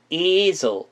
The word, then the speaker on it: easel: 근데 이거의 발음은 이에 강세를 주면서 z은 눌러주시면 되겠습니다. 그래서 어떤 식으로 발음 나냐면 easel 이런 식으로 발음이 난다는 거 알아두시면 되겠고요.